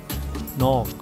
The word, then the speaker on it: knock: When K is with N in the beginning, it is silent.